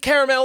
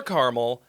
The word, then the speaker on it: caramel: Whether you pronounce it caramel or caramel, it's sticky and delicious.